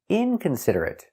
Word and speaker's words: inconsiderate: T inconsiderate inconsiderate inconsiderate five syllables inconsiderate stress on the first syllable and third syllable inconsiderate inconsiderate he is